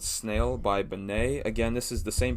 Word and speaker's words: BENEE: I can't remember what episode that was, but Benet is spelled Benee.